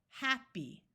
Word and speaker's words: happy: In these words right here, the Y at the end is going to have a long E sound. So we have happy, not happy, happy, tally, penny, jolly, folly, puppy, chilly.